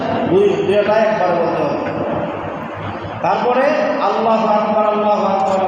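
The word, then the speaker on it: الله أكبر: এখন আল্লাহু আকবার উল্লাহ বলা যাবে না, আল্লাহু আকবার বলা যাবে না, বরং আল্লাহু আকবারের রাগে সাকির বানাতে হবে। আল্লাহু আকবার আল্লাহু আকবার হবে না, আল্লাহু আকবার হবে না, এটা ভুল হবে। বলতে হবে রাগে সাকিন বানাইয়া আল্লাহু আকবার, লা ইলাহা ইল্লাল্লাহ।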